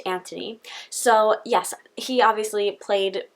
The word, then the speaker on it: Anthony: Not Anthony Daniels, which is how I pronounced it in one of my other videos, but he specifically pointed out in this book how coming over to America, he thought it was interesting how people pronounced his name as Anthony when over in the UK it would be pronounced Anthony.